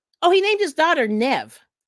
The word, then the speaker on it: Niamh: But that's what he named his daughter, Nev, like Nev Campbell. So apparently that's a Gaelic name.